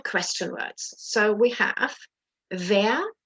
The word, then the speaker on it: wer: Now, when you're actually pronouncing the question word, make sure your W, that you don't say where, wo, wie, wann, was. Ich kann das kaum sagen. I can't even say it like that. But make sure it's like the English wie, as in very, very. So it's wer, wo, wie,